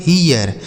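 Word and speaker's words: here: इसे पढ़ते हैं हियर। एच ई आर ई ई इसे पढ़ा जाता है हियर।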